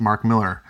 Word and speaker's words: Mark Millar: today's comic prodigy number 5 by Mark Millar pronounced Mark Miller I really like this book I didn't so